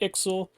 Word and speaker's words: Ixhel: IXL cyan of attraxa I don't know if it's pronounced Excel but we're going to call it IXL like pixel pixel is a frexian